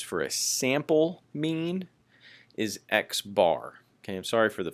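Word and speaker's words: x̄: that we use for a sample mean is x-bar okay I'm sorry for the fuzziness of this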